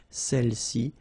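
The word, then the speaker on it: celles-ci: Alright, feminine plural, celle-ci, okay, don't pronounce the final S, celle-ci, celle-là.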